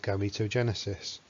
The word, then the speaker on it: gametogenesis: have written it clearly enough that you can spell it g a m e t o g e n e s i s gametogenesis and to break the word down a